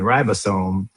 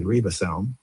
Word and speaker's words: ribosome: Metabolism, hormone, immune system, mitochondria, genome which is DNA and genes and and ribosome. I think Mary pronounced it reebasone, but um Mary is American and I'm Jamaican.